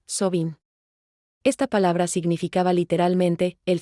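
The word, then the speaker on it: Samhain: Celebraban un festival llamado Samain, que se pronuncia Sobin.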